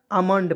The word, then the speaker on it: almond: ALMOND क्या पढ़ेंगे दोस्तों, आमंड पढ़ेंगे, ठीक है, आमंड, ठीक है, याद रखिएगा दोस्तों, इंपॉर्टेंट है एकदम।